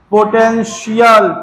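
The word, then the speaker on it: potential: Shall पोटेंशियल टी आई एल है।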